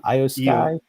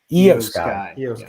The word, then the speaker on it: Io Sky: How did she pronounce her name? Io Sky. Io Sky.